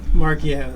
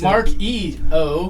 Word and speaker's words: Marchio: Marchio, that's right. Marchio. I'm close. Mark-E-O. That was a new version. But it's, Marchio. but it's March and I-O.